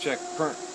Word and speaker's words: Checkpoint: burnt I asked confused it's spelled checkpoint but it's pronounced check perk like Berlin and Earl